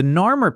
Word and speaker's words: Narmer: The signs do not mean catfish and chisel, they mean Nar and Mur.